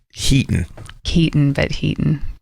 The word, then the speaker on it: Heaton: It is our lovely, lovely new friend, Jenny Heaton. Heaton. It's spelled Heaton. Yeah. Yeah. Like turn the heat on.